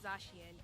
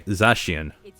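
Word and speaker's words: Zacian: probably mobile legendary Pokemon zashian is now joining and that's how you say it okay zashian now I know with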